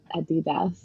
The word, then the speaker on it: adidas: be honest and then if you're in germany which is where adidas is from it's like adidas i don't know actually they're both right it's just like saying with a german accent and then you're technically